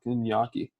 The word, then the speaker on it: gnocchi: between Big Shells and gnocchi. It's gnocchi. It's not that hard to say. All right, Nachi, y'all want to call Fake it? Italian. Fake Italian. Oh, y'all said it wrong.